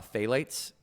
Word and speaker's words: phthalates: finding plastic chemicals and 84 of them uh phalates is the correct correct pronunciation of it or plasticizers as they've been